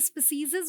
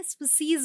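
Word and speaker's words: species: है उसी तरीके से स्पेसस बोलते हैं क्या जी नहीं स्पीशीज बोलते हैं ये भी सिंगुलर प्लूरल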